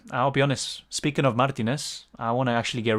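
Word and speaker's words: Martínez: poor uh dylan pronunciation martinez yeah spanish yeah martinez martinez martinez martinez is just the way the english say it but yeah that's how it is but yeah i'll be honest speaking of martinez i want to actually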